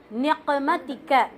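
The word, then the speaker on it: نقمة: அதனால இன்ஷா அல்லாஹ் இந்த நிஅமத்துக்கும் நிக்மத்துக்கும் நிறைய வித்தியாசம் உண்டு. நம்ம உச்சரிப்பு கரெக்ட் பண்ணிக்கிறோம். நிஅமத் என்றால் அருள்கொடை, நிக்மத் என்றால் எதிர்பாராத தண்டனை. அதெல்லாம் அல்லாஹ் பாதுகாக்கணும். நூன் காஃப் நிக்மதிக, இது நிஅமதிக. ஐன் இருக்கிற இடத்துல காஃப் வச்சு என்ன செஞ்சிடக்கூடாது, சொல்லிடக்கூடாது.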